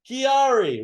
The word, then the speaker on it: QuiAri: The key is from Maki. The Ari is the first syllable of the scientific name of the Maki berry. QuiAri, right?